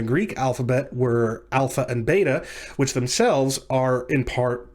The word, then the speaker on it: bet: the letters Aleph and Bet. If you pronounce bait quickly enough, it just comes out bet, and so you have Alef-Bet, the Alef-Bet.